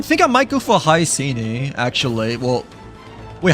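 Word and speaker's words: Hyacine: Well, wait, how do you pronounce the name again? Because we like just finished watching the live stream like earlier, but I think she's pronounced as Hyacinth, right, instead, right?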